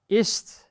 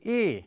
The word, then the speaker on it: E: so much domino effect is tricky this one is tricky most of all especially when you're coming from English the letter is e it is not I by by name of